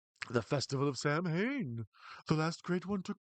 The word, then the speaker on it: Samhain: And here's the whole thing where he keeps saying Sam Hain, but it's supposed to be pronounced Samhain.